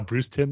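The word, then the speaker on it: Bruce Timm: and technically I mean it's pronounced the same but it's spelled t-i-m-m like how Bruce Tim is spelled so technically it's not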